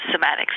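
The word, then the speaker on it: cymatics: of like visual sound, which is somatics, but it's spelled with a C, not a K at the end.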